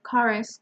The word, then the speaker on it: chorus: because the second word the word chorus comes from Greek okay so every word